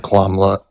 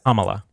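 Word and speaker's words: Kamala: He had a tied Senate with Komla. Sorry, I I mispronounced it again. Kamla. Kamla. Okay.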